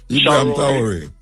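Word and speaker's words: Ibrahim Traoré: Do you pronounce his name Ibrahim, for me, please? Traore. Huh? Ibrahim Traore.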